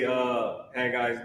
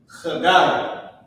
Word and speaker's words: Haggai: is how you say Haggai's name in Hebrew. Let me give it to you real quick. All right. Boom, boom, boom, boom. Here we go. Ya. Haggai. C-H-A-A, that hawk spit sound.